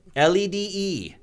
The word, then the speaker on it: lede: But it's spelled different. LEDE. Yeah. Lede.